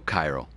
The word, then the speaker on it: chiral: And chaos and a few others that are Greek in origin start with the CH sounds like a K. And if you look at the original spelling of chiral, it is with a K. It's a K-H, which they just changed